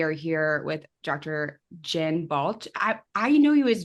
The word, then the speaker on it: Balch: Jen Balch.